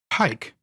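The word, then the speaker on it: Pieck: Oh, it's spelled P I E C K. Yeah, like Petra, I guess. Petra or No, no, you're thinking of uh Pike. Yeah, Pike.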